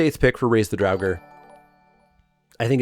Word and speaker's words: Draugr: Up next is Raise the Draugr, is the way we've decided this is pronounced based on research.